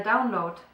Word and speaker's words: Download: the down download the download so um you can probably hear that I said the download with the T at the end uh which you wouldn't you wouldn't say it that way in English um this is again